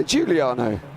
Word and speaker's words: Giuliano: Giuliano. Yeah, Giuliano.